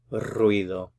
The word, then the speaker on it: ruido: you hear a noise I have to work a little bit on rolling your r's here ruido so this one would